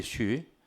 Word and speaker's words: 쉬: 릴리 박사 릴리 릴리 쉬 그 사람이에 허 우리나라 허 쉬어요 그 쉬라고 해 맞아요 쉬데 릴리수 그랬잖아요 쉬라고 해야 맞아요 발음이에 에 그 나는 그